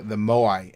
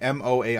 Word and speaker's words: Moai: The Maui, not Maui. The Easter Island, the big heads. The Moai, Moai, I think it is.